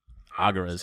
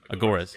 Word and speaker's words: agoras: go to these little aguras i think they're called just gathering places agoras yeah thank you of uh how you